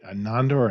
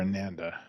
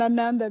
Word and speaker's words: Ananda: so first things first make sure i'm saying your name right anandor amanda the first one ananda that was okay good